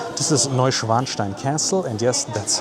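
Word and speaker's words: Neuschwanstein: This is Novanstein Castle and yes that's how you pronounce that. It's not Neninstein next to uh the Italian Rivera um which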